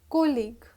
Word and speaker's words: colleague: business partner here college co double l e a g u e pronounced as colleague moving at position this is